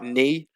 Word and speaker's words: knee: we can uh see a silent k in words like knee and no so in the pronunciation there's no recognition of